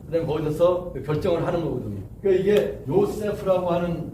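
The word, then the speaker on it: Yosef: 그러니까 이게 요세프라고 하는 그 이름이 이게 원래 발음대로 하려면 우리말로 하면은 이게 어떻게 되냐면 요세프 이렇게 되는 거예요. 요세프. 이게 세가 아니고 요셉이 아니고 요세프가 돼요.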